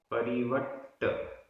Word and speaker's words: परिवट्ट: दव्व दव्व, परिवट्ट परिवट्ट, आधा ट पूरा ट, परिवट्ट, रूवो रूवो, रा में